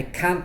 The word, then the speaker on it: can't: And I think it's because most native speakers don't pronounce the T at the end of the negative can't. That's right, Craig. So when people say, for example, I can't swim, I don't know